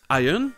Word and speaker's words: Iron: Par exemple, en anglais britannique, dans Iron et dans la plupart des mots, le R n'est pas du tout prononcé.